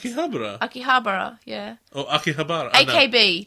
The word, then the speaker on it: Akihabara: pronounce in the They're English like, it's like, Akibra.